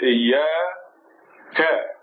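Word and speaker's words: إياك: The next letter is ya, with a shadda on it and the fatha. So iya. And then there's an alif which extends the fatha, makes it iya ka. See the kaf with the fatha on it, ka.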